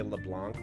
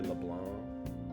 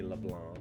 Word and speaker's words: Leblanc: persona 5 streams say leblanc but it's supposed to be leblanc i guess that's fair in french it would be leblanc but like i don't